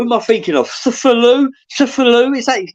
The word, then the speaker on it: Cthulhu: Cthulhu, is that his name?